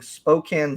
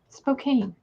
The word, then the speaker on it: Spokane: even pronouncing it right Spokane Spokane is it really like you don't pronounce the e no they got a